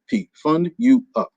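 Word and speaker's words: FundUUp: this out at you the name of my company is fund you up f-u-n-d-u-u-p fund you up so i get fund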